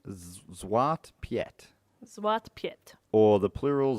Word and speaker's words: Zwarte Piet: And his name is, I'm going to have a crack at the pronunciation, Zwarte Piet, Zwarte Piet.